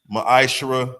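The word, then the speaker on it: מעשר: It's pronounced ma'ashara.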